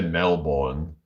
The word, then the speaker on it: Melbourne: I'm from Wales originally, but now it's Mickey Lloyd from Melbourne, Australia. All right, Melbourne, Australia. The s pronounce it Melbourne. Like it's instead of Melbourne. We say Melbourne.